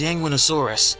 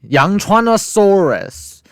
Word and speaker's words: Yangchuanosaurus: as well as large predators such as Yanguinosaurus, Sinraptor, and Gigantoraptor. Yangchuanosaurus.